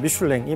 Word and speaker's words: 미슐랭: 미슐 타이어 회사를 설립합니다 는 뭐 미인이라고 발음을 하는데 프랑스 발음을 따르자면 미슐랭이 맞고요 그래서 미슐랭 타이어입니다 근데